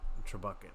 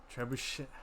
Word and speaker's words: trebuchet: the the true bucket true bucket is how you say it tribe boo shaved I I don't even know and then I've known the meme for the longest and I don't know if I'm pronouncing it right about that we can learn together renounce ah trebuchet gibberish trebuchet trebuchet okay all right everything I knew was a lie all right so let's